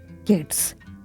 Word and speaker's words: kids: Now let me tell you, the correct answer is kids. So letter S is pronounced as Z, not S.